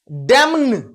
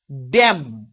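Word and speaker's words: damn: ড্যামন। এ তো বলা যায় না, উচ্চারণ করাই যাচ্ছে না। এক্ষেত্রে কখনো কখনো হয় একটা করে কনসনেন্ট সাইলেন্ট হয়ে যায়, ড্যাম।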